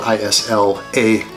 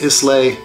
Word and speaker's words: Islay: And Islay is spelled I-S-L-A-Y. So it looks like Islay, it's pronounced Islay.